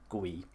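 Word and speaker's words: Guiu: And finally, completing the lineup is going to be Watkins Strand Larson and Mark Gui. I think it's pronounced GU.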